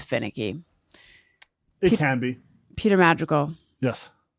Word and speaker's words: Madrigal: Which one do you say? Madrigal. Really? Yeah. That's how you'd say it? Like if I said, what's your name? You'd say Peter Madrigal.